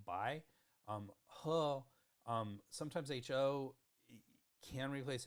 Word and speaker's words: Bai: So even though it's spelled P-A-I, it's still Bai.